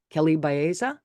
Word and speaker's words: Kelley Baeza: me see it let's see you said it rhymes with cesa Baya Kelly Baya is that correct Kelly yes it is Kelly